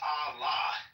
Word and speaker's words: Allah: But like in this case, the Aleph and the Lamed is pronounced Allah because, the Aleph is Ah and the Lamed is La. So Ah, La.